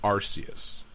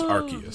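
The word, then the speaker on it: Arceus: Christ okay so I was wrong rus' name pronunciation in Pokemon Battle Revolution is arus however this is wrong compared to the movies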